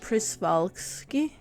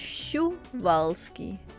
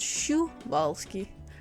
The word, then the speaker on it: Przewalski: always thought it was chris balski but in parents and i think it's called it they write it's pronounced shu valsky so even though it's p or said it actually profound shu valsky which makes this horse